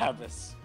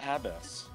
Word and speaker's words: abyss: I think I used to say it like that as a kid before I realized it was abyss.